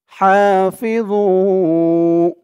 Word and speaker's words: حافظوا: হাফিযু, ভু, ওর উচ্চারণটা খেয়াল করবেন। ভু একেবারে জু বলা যাবে না, জু বললে কিন্তু এই ওর উপরে জার উচ্চারণটা চলে আসবে। যেহেতু এখানে জ, তাই জর উচ্চারণটাই করতে হবে।